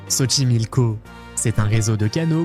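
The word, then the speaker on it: Xochimilco: On commence par Ximilko, un endroit très spécial avec un nom à la prononciation surprenante. Soimilko, c'est un réseau de can construit à l'époque des Astecs.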